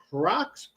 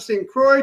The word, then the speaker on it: St. Croix: I was like how do you say this is Crocs C you know I could not pronounce it. So it's the same it's the port of St. Croy T was a high of 83.